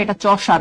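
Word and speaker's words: Chaucer: আচ্ছা, এই ব্যক্তির এই চসারটাকে এভাবে লিখেন, অনেকে উচ্চারণ উল্টাপাল্টা করে, এটা চসার।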